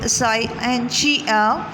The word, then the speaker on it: scientia: اب جب ہم اس کو مزید آگے دیکھتے ہیں تو یہ word سائنشیا، it's a old French style to pronounce this word is scientia.